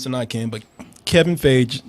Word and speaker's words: Feige: Kevin Feige. It's Kevin Feige. They're okay. Yeah, you were pronouncing like it was yogurt.